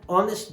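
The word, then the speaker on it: honest: ही इज एन ऑनेस्ट बॉय। ऑनेस्ट ये word है, एच है जो कंसोनेंट है, लेकिन उच्चारण हो रहा है वॉवेल से, सो देयरफॉर एन लगेंगे।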